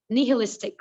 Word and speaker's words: nihilistic: i hate the pronunciation it is knee hill nihilistic right nihilistic now what does this word